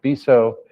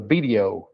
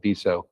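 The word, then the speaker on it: Betio: In the language of Kiribati, the country of Kiribati, it's spelled B-E-T-I-O, but the T-I diphthong in Kiribati, in I-Kiribati, which is the language, is pronounced as an S.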